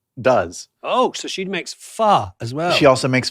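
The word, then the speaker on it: phở: It's almost like a question mark.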